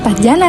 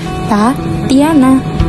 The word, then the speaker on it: Tatiana: Tulisannya emang Tatiana sih, tapi cara bacanya Tatiana.